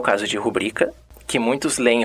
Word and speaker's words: rubrica: Há muita confusão com determinados vocábulos e sua pronúncia, como é o caso de rubrica, que muitos leem rúbrica, ou ávaro, que muitos leem avaro, ruim, que volta e meia se diz ruim.